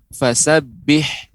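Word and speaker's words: فَسَبِّحْ: kemudian yang berikutnya adalah pengucapan fasabbih ini huruf H kecil ya huruf H yang kecil ha ha begitu fasabbih kemudian juga catatan berikutnya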